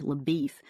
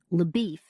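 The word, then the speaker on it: LaBoeuf: good-looking Texas Ranger named Leff who has already tracked Cheney over several States Leif whose name is spelled labuff and who is somewhat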